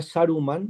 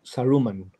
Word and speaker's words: Saruman: Por ejemplo, en vez de Saruman, dicen Saruman. Boromir, Legolas, no sé. Todas llanas. Sí, todas llanas, pero también el acento.